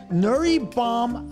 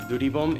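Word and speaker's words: 두리봄: Well, it's actually pronounced duribom in Korean, and basically the word is two different words.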